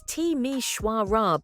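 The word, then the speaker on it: Timișoara: Let's start our journey in Romania with Timishora, a city that most people can't even pronounce correctly. It's Tishwarra, by the way.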